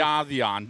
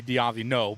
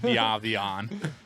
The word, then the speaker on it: Diavion: Nobody can say it, though, because it's a French last name. That's why that's why I wanted the correct pronunciation. Oh, if people from Quebec will listen, it would be Diavino, but I'm from the States, so we just say Diavion.